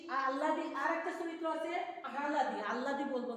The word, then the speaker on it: আহলাদি: যেহেতু আহলাদি আমরা উচ্চারণ করবো, আহলাদি আল্লাদি নয়।